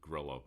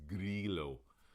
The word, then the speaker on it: Grillo: we might pronounce it guerrilla but it's not grillo doesn't rhyme with brillo it's grilo and the two l's don't form a y either which is what i